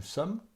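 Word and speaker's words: sommes: then we have no sum vous what you notice here the last letter are not pronounced a new sum we don't pronounce the last s there's a red zed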